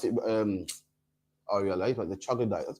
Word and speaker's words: troglodyte: Well, how do you pronounce it? The troglodyte.